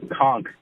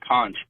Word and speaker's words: conch: what they were eating is actually pronounced conch not conch also wanted to let